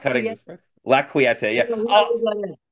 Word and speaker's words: La Quieta: Like I used to say La Quiette because I didn't know how to say it. So, but it's like quiet with an E on the end.